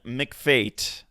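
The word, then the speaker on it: McPhate: Gordon McFate.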